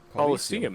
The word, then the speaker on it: Colosseum: go to the roman coliseum colosseum is how that's supposed to be pronounced but that's not like coliseum coliseum police oh hold